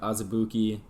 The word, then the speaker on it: Azubuike: Yep, Azubuike.